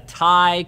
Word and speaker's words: Ti: I usually call it Ti as well. But that doesn't change the fact that it is correct, much like the way I say Asus is the correct way to say Asus, even though I think it should be Asus. So I'm sorry, it's Ti.